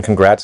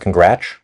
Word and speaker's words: congrats: What's the difference between congrats and congrats? They're basically the same, but one has affective palatalization, maybe, and it's from a post-lexical transformation.